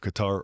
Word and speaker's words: Qatar: When we talk about funding, I immediately think of Qatar or Qatar. Both pronunciations are correct for all the internet trolls.